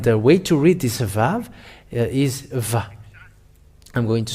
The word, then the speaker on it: Vav: Let me save it in case it will disappear, but its pronunciation is V. The Yod, Hey Vav Hey, is read as Vav.